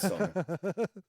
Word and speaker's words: Sonne: Yeah, they don't pronounce it like that probably. It's son. I think it's son. I don't know. Da Here kommt die Sonne. Yeah, it's Sonne.